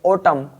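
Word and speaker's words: autumn: होना पड़ता है तो यहां पर आपके एन को साइलेंट रखा जाएगा एम और एन दोनों वर्ड साथ आते हैं तो एन साइलेंट रहता है जैसे यहां पर एम और एन साथ में है तो एम और एन साथ में होते हैं जैसे इसे पढ़ेंगे ऑटम कॉलम इस प्रकार यहां पर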